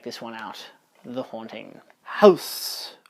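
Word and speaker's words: ハウス: House, or Hausu, as the guy pronounces it because it's Japanese.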